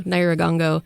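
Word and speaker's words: Nyiragongo: So Naagongo.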